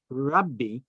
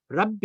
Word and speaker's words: Rabbi: And actually in Aramaic, when you spell Rabbi, you spell it R-A-B-I, one B. It's a one B, but when spoken, it's a double B, because it has a certain vowel on the B, on the resh, on